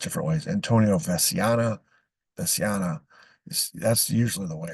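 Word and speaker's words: Antonio Veciana: Veno Venia uh sometime some I've heard it pronounced different ways Antonio vasana vasana that's usually the way it's pronounced so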